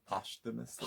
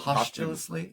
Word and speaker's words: posthumously: uh you know posthumously how do you say that word posthumously postulously i'd trip over it it's it's posthumously yeah uh diagnosed as